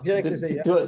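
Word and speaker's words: Viré-Clessé: Just to say what the third box is Vire-Clesse. Vire-Clesse? Oh, Vire-Clesse, do I pronounce it well? And Justice, yes, and from Albert Bichot, another household name in the Perfect Cellar family, I think.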